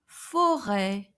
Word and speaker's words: forêt: Forêt, forêt, which means forest. And forêt, it is pronounced like a accent grave, but a bit longer.